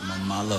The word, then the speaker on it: Malo: do you say it Malo Malo like Malo like bad Malo but he's not but